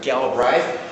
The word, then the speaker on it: Galbraith: John Kenneth Galbraith, or sometimes pronounced Galbraith, A Short History of Financial Euphoria.